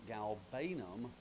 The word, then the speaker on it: galbanum: The word is galbanum, G-A-L-B-A-N-U-M, and I'm pretty sure it's pronounced galbanum, G-A-L-B-A-N-U-M.